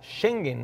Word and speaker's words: Schengen: Nosotros en español ¿Cómo se escribe? SCH, ¿no? Por eso digo Schengen, ¿no?